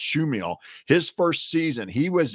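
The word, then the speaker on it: Chmiel: Fred schill spelled chm iel but it's PR pronounced schill his first season he was had been an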